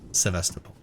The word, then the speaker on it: Sevastopol: Okay. Sevastopol. So that's how it's pronounced. Sevastopol. There was just an android there.